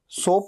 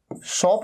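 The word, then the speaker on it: soap: अच्छा, इसे सोप कहना है, सोप, इसे शॉप नहीं कहना है। कई लोग कंफ्यूज हो जाते हैं, प्रोनाउंसिएशन मिस्टेक कर देते हैं। शॉप मतलब तो दुकान होता है, ठीक है।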